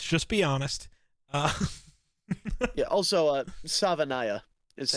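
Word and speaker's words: Savaiinaea: Also, Savanaya is how you pronounce his name.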